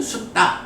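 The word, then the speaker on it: sutta: 이게 영어하고 발음이 조금 달라. 그러니까 이게 이제 영어로 보자면 니카야가 될 거고 숫타가 되겠지. 그런데 나중에 우리가 한번 보겠지만 요 발음이 왜 국제적으로 그 영어 발음하고 다르게 알파벳이 국제 발음 기호 이런 게 있지. 그 발음에 따라서 발음을 하거든. 그래서 니까야가 되고 숫다가 돼.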